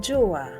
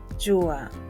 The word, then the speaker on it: jua: The next letter is pronounced as ja, ja, and the word is jua, jua, sun in English.